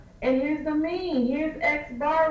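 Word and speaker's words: x̄: And we pronounce this guy here as X bar.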